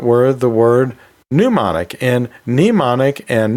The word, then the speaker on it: mnemonic: So yeah, they are somewhat similar, and they both have a silent letter at the beginning, so I think that's why they're so often confused, but they are two different terms.